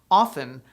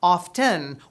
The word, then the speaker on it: often: thrown into linguistic prison often with the t silent is considered the preferred and proper pronunciation but often with the audible t